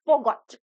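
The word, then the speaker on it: forgot: This word is नॉट फॉरगॉट, this word is फॉरगॉट। फॉरगॉट। Okay, आप इसका जो ये आर है ना, इसको आप साइलेंट रखेंगे, आप यहाँ पे नहीं बोलेंगे इसको।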